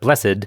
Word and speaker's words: blessed: Similarly, a few regular verbs can have different pronunciations, as with blessed for verbs but blessed for adjectives.